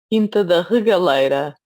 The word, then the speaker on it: Quinta da Regaleira: Can you pronounce it properly? Quinta da Regaleira. Okay. Quinta da Regaleira or something like that.